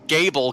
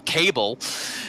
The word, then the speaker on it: Gable: I didn't bother Kevin when he was constantly calling Gable Cable earlier. Is it Gable?